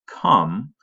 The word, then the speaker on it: come: It would usually say a long O like comb, but it sounds more like a U.